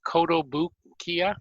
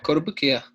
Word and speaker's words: Kotobukiya: So how do you want to pronounce this? Kotobukiya models? I'm sure Yeah. I'm slaughtering that. Yeah, Kotobukiya.